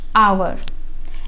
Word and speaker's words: hour: जैसे एक एग्जाम्पल और दे देती हूँ, जैसे HOUR। अब ये क्या है? कॉन्सोनेंट है, लेकिन हम इसको प्रोनाउंस कैसे करते हैं? आवर, एन आवर।